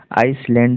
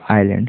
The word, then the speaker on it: island: They soon reached, यहाँ पर spelling देखते हैं, REACHUD, reached the island, island, देखिए ISLAND, आइसलैंड ये नहीं होगा, आइलैंड पड़ जाता है उसको, आइलैंड, ठीक है, एस आइलैंड है यहाँ पर, तो ध्यान दीजिएगा।